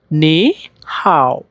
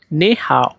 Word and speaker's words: 你好: তাহলে এটা উচ্চারণটা করতে হয় নে হাও নে হাও নে হাও এই যে দেখেন এখানে